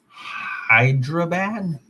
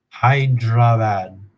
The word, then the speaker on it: Hyderabad: the last 28 days it's 341 coming from hyderabad i i here let's google it let's google